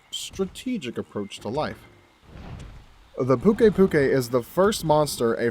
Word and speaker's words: Pukei-Pukei: the language barrier because the native pronunciation is essentially the same thing except for us they threw in an extra eye at the end because i guess puke puke just isn't as elegant puke puke they are very territorial